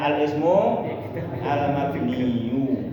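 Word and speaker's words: الاسم المبني: Al-ismul mabniyu, itu ya bacanya ya. Ingat, bacanya al-ismu al-mabniyu, gitu.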